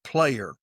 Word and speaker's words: Plair: His last name is Player, but it's spelled Plair.